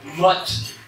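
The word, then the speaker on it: Matte: Eux autres, ils l'ont gardé Matt, M-A-T-T-E, sauf qu'ils le prononcent Mott. Non, Mott. Mott, comme dans la motte de terre.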